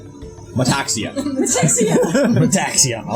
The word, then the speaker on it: Metaxia: It's pronounced how it's spelled. Metaxia.